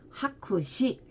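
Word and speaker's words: 白紙: 자, 흑백이 있고 백지 일본어 발음. 자, 흑백은 코크 мя크로 읽어주고 백지일 때에는 하쿠시 해서 하쿠로 읽어줍니다.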